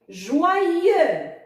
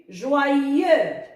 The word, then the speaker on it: joyeux: Joyeux. X muet et le son ye s'écrit Y-E-U. Joyeux.